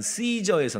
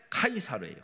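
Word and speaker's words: Caesar: 시저의 그 라틴식 발음이 카이 카이사르예요. 카이사르. 그런 이제 미국 사람들, 영국 사람들이 C를 그냥 C 발음을 해 갖고 C저 이렇게 된 거지. 원래 발음은 카이사로 예, K로해서 카이.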